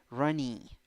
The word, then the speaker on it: runny: five letters four sounds two syllables the first syllable is the stressed syllable and you have a schwa you don't have a u and in the second syllable you have e with a hat which sounds like e e it is the very same sound that the vowel has in the alphabet e so the pronunciation runny runny runny runny